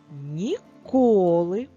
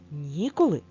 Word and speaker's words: ніколи: наголос значення слова перше слово ніколи наголос на першому складі і звук і друге слово ніколи ніколи наголос на другому складі на звук о ми використали для написання